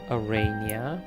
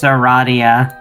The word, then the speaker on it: Aradia: There's Karkat, Arania, or Dia, whoever, It's Aradia.